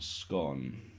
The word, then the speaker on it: scone: chav anyway how do i flat scone rhymes with barn really no way my